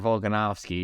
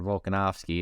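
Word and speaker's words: Volkanovski: and I immediately went Alexander volganovski because you know it's Alexander volkanovsky and I'd get my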